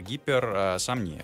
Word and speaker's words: гиперсомния: Это гиперсомния, да, я правильно говорю? Ударение. Гиперсомния, да, но это не только относится к дневной сонливости.